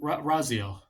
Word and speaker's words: Raziel: most iconic video game characters of all time Raziel that's how you pronounce it Brazil I haven't played the series